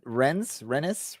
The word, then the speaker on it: Rennes: Maybe we can ask Rennes, whatever they are, if we can borrow Kobe Henry for a month. Nice. You don't really pronounce the N. It's just you just go right past it.